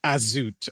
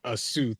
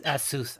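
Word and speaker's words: Azuth: So out of character, you said Azut as in the demon, not Asuth as in the knowledge god.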